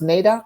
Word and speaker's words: NAIDOC: talking to anissa about is it pronounced nadoc week yeah and i've got my